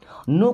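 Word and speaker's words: know: डिड यू मीस आप नो का मतलब होता जानना अब इस नो वर्ड में के और डब्लू दोनों साइलेंट होते हैं ओके हाउ डिड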